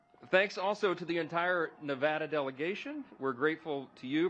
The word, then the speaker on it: Nevada: So we always say Nevada, and now it's supposed to be Nevada. Just forgive us. Forgive us. We're trying to get it right, okay?